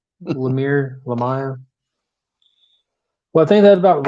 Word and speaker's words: Lemire: Lemire, however you pronounce it. Lemur. Right. No. Lemire.